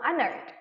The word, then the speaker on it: honored: Jadi honored itu hanya tidak kita baca, kita langsung honored.